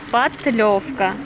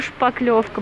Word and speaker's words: шпатлевка: нам купить шпаклевку правильно говорить шпатлевка шпатлевка я а я да как шпатель правельное слово шпатель а я себя люблю шпаклевка блин никак не могу